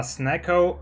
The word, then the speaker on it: Snecko: Yeah, snecko rhymes with echo.